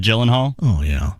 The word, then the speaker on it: Gyllenhaal: it gyllenhaal or gyllenhaal personally it could be guillen hall but the whole world has just accepted gyllenhaal oh yeah all right